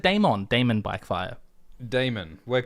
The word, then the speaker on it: Daemon: Damon. We're pronouncing things correctly today. And his descendants. I used to always say Daemon, but now I'm going to say Damon.